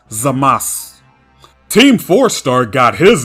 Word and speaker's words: Zamasu: So instead of vocalizing the oo at the end of his name, since it's preceded by an S and is also the last letter of the word, his name is pronounced Zamasu.